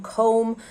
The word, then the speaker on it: comb: to pronounce because um because of the o diphthong and the fact that we don't pronounce the b at the end so i remind them comb comb your hair uh sometimes